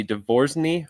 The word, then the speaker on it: DeVo: And I always say phonetically, it's divorce me without the me.